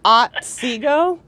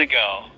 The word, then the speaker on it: Otsego: It's Otsego. I guess it's a Native American. Otsego.